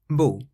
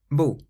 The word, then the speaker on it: beau: Some people have a little bit of difficulty with this word because it does sound a little bit like bon. So bon is good, beau is beautiful. Bon, beau.